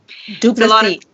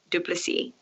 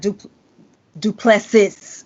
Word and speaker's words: Du Plessis: Du Plessis. It's not Du Plessis with the S on the end. No, the S is silent. Okay. So, that's all you had to say. Du Plessis.